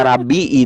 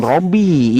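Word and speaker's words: رَبِّي: kosakata Rabbi itu boleh ya, Rabbi bukan Robbi ya.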